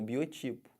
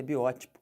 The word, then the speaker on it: biótipo: que fala isso biótipo o pessoal fala como Biotipo tá errado o certo é biótico aí eu sou um